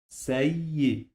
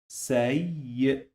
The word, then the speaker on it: سيء: The first syllable is say and the second syllable is y. سيء سيء سيء سيء.